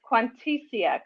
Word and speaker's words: Quantessia: probably going to say your name ramen it's quantitia correct no that's right that's absolutely correct oh